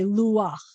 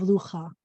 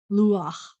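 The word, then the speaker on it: לוח: end of a word, instead of saying luha, you're going to switch the pronunciation of that last two stuff. You're going to say luach instead of lucha, only at the end of a word, luach.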